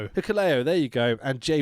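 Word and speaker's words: Hikuleo: combination of Bad Luck Faroo, I can never pronounce his name. Hiku, Hiko, Hicleo, there you go.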